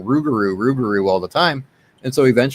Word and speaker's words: rougarou: term rugaru what happened the Blackfoot couldn't pronounce lugaro correctly so rugaru was actually a mispronunciation that's how we arrived at the name rugaru what I I didn't